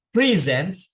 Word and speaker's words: present: Eh, eh, tepatnya di sini ada dua cara pengucapan itu, ada yang ditekan di depan, ada yang ditekan di belakang. Ya, present. Ya, present itu present itu berarti dia menekannya di awal present. Tapi ada yang present.